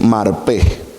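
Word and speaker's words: מרפא: Porque la palabra que en el hebreo está es marpé, con acento en la E.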